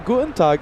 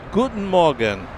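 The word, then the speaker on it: Guten Morgen: Gutenag. Is that how you say it? Guten Morgan. Guten Morgan. Guten Morgan. Wait a minute. What's Gutenag? Uh, that's later in the day.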